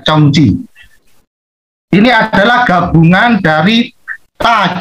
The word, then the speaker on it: Zong Qi: Nah, ini Zong Qi bacanya Chong Qi.